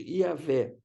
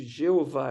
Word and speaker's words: Iavé: Deus revelou esse nome, IHVH, que a gente pronuncia hoje Iavé. Seria a maneira de pronunciar. Alguns chamam de Jeová, é uma outra forma de pronunciar a mesma coisa. Iavé é mais próximo do que era a pronúncia original.